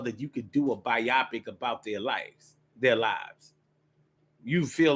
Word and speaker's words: biopic: Is it biopic? I thought it was biopic when they make a movie about a person's life, but I've heard it pronounced recently biopic. I'm like, bio picture? I'm like, biopic sounds better to me. But maybe that's just the English way of saying it.